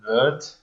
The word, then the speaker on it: wird: So basically, in our, how in northern German, they often say, they don't say wird, they say like wird. They change into this like EU sound, like a diphthong almost.